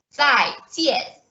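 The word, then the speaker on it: 再见: To say goodbye in Mandarin, we say 再见, 再见.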